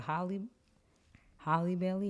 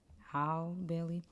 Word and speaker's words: Halle Bailey: So next we have I always say it wrong. It's a Holly Bailey, right? Halle Bailey.